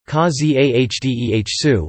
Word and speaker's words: Casadesus: his last name as khazi a hdeh su with a silent final s for live interview ca